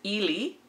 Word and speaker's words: Elie: sab and also commercials the first is ili and the other one is ellie and they're kind of used interchangeably and i've seen them on both i like seen both pronunciations on different commercials so i'm gonna just stick with ellie so um i hope